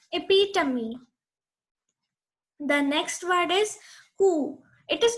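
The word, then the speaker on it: coup: It is not almond, it's almond. The L is silent over here.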